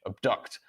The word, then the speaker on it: abduct: And that is because the stressed syllable is on the second syllable. So the pronunciation of the letter A in each of these words is which is the schwa sound, in the word apple,